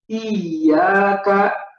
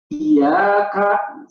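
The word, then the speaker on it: إِيَّاكَ: Kalau yang benar itu ketika dipijit hidungnya suaranya tetap tidak berubah. Iyyaka, iyyaka, seperti itu. Tapi ketika kita keliru, ya kita masukkan ke rongga hidung, maka berubah suaranya seperti iyyaka, iyyaka, iyyaka. Nah, ini keliru seperti itu.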